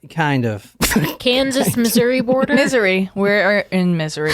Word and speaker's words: Missouri: Misery. We're in misery. How do you... I am in misery. That's actually how they pronounce it. Misery, I think. I thought it was Missouri.